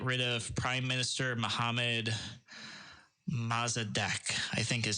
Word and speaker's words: Mossadegh: coup to get rid of Prime Minister Mohammad Mossadegh I think is how you pronounce his name most a big mess is